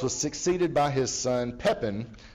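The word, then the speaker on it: Pépin: by his son pepin who is historically known as pep in the short i like it better in french it's pepin labreth you know kind of kind of you know breath kind of smell and i mean kind of smells no kind of sounds like something brief doesn't it so but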